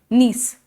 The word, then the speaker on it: gneiss: Slate, marble, नीस, GNEISS, जी silent है, नीस.